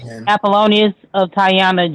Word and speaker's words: Apollonius of Tyana: But the proper pronunciation it says Apollonius of Tyana Jesus.